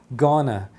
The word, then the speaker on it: gonna: Uma das formas de juntar isso é juntar o going com o to e você vai pronunciar gana.